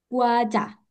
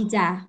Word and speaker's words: 과자: 2번, 과자, Guaja. Guaja. Kiri kanan? Kanan. Kanan, good. Guaja. Yang sebelah kiri bacanya ada yang tahu? Hijau. Hijau. Ija. Oke, yang benar yang kanan ya, guaja.